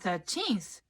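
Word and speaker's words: thirteenth: Queens in New York 30th and 13th sounds pretty similar if you don't put the accent on the right spot 30th has an accent on the first vowel third ER and 13th is on the second vowel teens e so when I tell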